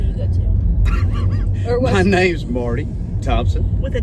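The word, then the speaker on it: Mardy: My name's Marty Thompson. With a D. Marty with a D. With a D, but spelled with a D. Mm-hmm. No way ever says Marty.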